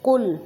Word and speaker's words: قل: تو قل یہاں پہ قاف ہے، قاف کو موٹا ادا کیا جائے گا.